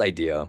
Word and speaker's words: Aidia: So it's pronounced idea. And everyone always asks me, why do you spell it that way? I mean, the real answer is that that's how you would say, spell idea in Japanese, and I'm Japanese.